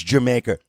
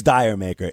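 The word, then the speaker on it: D'yer Mak'er: Roll their eyes and say it's Jamaica no it's not it's Dyer maker it's spelled d-y-e-r now it's supposed to be a tribute to reggae music the term dire maker if used with a West Indies accent is supposed to sound like Jamaica like did you make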